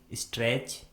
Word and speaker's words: stretch: Rule number 1 में हम सीखेंगे कि यदि किसी वर्ड में टी के बाद सी एच आता है तो उस वर्ड में टी कम्प्लीटली साइलेंट होता है, यानी टी का किसी प्रकार से कोई भी उच्चारण नहीं किया जाता है।